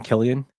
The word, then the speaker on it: Cillian: Killian? Cillian?